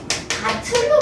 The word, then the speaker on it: 밭을: 안 해요 안 해요 그러니까 얘는 바틀로 발음을 합니다 바틀로 발음을 하고요 얘